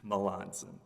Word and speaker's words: Melanson: Judge Stewart, you may correct me on the pronunciation. I understand you were on the panel in that case. Melanson. Melanson.